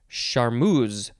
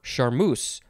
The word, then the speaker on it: charmeuse: group marked by exclusiveness next is charmouz or charmus or charmeuse or charmers so many ways to say this it is spelled c-h-a-r-m-e-u-s-e i'll say charmeuse noun from 1907 a